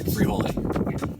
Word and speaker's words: Frijole: Yeah, That's how you say it, Frijole.